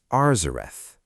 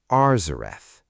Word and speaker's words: Arzareth: And the name of that region, the text says, is Arzerth. Arzerth. Say it slowly. Ar Zarth.